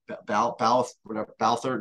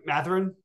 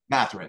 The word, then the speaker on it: Mathurin: And you could throw in the how do you pronounce the name again? Balthurton, whatever his name was. Mathurin? Mathurin, yeah.